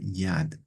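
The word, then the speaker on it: יד: Se escribe con una yud y una dale y se pronuncia yad.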